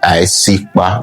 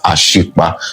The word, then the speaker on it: Isikba: The A will be silent and the I will be the beginning of the pronunciation of the word. So you say Isikba, not Ashikba.